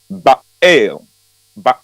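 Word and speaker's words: Baal: Showdown with the prophet of B that is pronounced ba ba and yes that was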